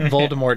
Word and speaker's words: Voldemort: I Didn't Do It Voldemort did did you know that the original intent was for the te to be silent and his name was Voldemort so much so in